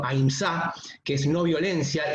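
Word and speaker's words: अहिंसा: del principio de aínsa o como se pronuncia en sánscrito aínsa que es no violencia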